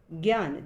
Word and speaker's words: ज्ञान: से बना हुआ है हिंदी में ज्ञ का उच्चारण ग और य जैसा किया जाता है ज्ञान जैसे ज्ञान विज्ञान इत्यादि हिंदी में कुछ अन्य